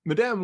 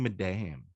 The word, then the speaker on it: Madame: Madame Web plot leak. Just say madam. Stop saying madame. Is it Madame? It's madam.